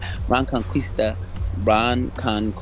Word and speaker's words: Reconquista: Reconquista.